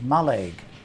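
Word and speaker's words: Mallaig: wandered around the village which the locals pronounce as maleg watching the activities around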